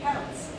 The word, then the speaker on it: Celts: But actually, the correct way of pronouncing this word is a hard C, the Celts, because the Romans have a soft C.